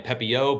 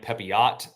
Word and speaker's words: Pepiot: go the pitcher uh you might might want to say Ryan pepio but it's Ryan pepiot that is how you say it I know that